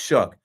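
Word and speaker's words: Shough: the name Tyler shuck but pronounced like or pronounced shook but spelled show like though but s h o u g h Tyler show out of out of Louisville I'm like man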